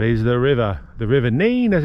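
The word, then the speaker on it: Nene: one being that is the river the river n as it's pronounced not nen it's definitely the river n and maybe today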